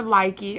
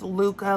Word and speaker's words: Lykke: These are likey. I think someone said that's actually pronounced Luca, like Huga yarn, not Hyga.